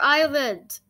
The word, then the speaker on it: island: The water is right around the entire island! That's why it's called an island. I thought it was called an island. Oh. Because the S is silent.